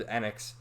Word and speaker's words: Enix: It's really properly pronounced Enix, but I always used to say Enix when I was younger. But the proper pronunciation is Enix.